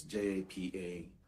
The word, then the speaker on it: japa: It's J-A-P-A, pronounced Japa, and it means to flee.